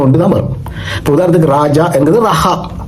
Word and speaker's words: Raja: இப்ப மாடர்ன் எபிரேய மொழி ஒரு மொழி மாறும் பொழுது நிச்சயமாக ஒருவருடைய பெயருடைய உச்சரிப்பு மாறும். உதாரணத்துக்கு என்னுடைய பேர் ராஜா, RAJA ராஜா. இப்பொழுது நான் ஸ்பெயின் போயிருந்த பொழுது ஜேக்கு அங்கே உச்சரிப்பு இல்லையா. அவர்கள் என்னை எப்படி கூப்பிட்டார்கள் தெரியுமா? ரஹா என்று கூப்பிட்டார்கள்.